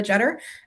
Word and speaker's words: Jeder: And my name is Jeder. Um it is not Jeter unless I'm in New York and then it is pronounced Jeter.